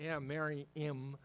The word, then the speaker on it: Mahanaim: I'll spell it to you, Mahanaim. Mariam is the way you say it.